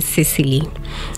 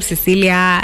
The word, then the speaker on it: Cicely: I realized that people have a problem pronouncing the name Cicely. And with time, it became Cecilia, you know.